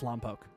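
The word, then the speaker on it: Lompoc: But if you're from the area, it's Lampoke.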